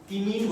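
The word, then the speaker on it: imine: Cyano इन अमीन, इमीन बोलते हैं, वैसे इमीन इसको प्रोनाउंस करते हैं, क्यों करते हैं बताता हूं, ठीक है।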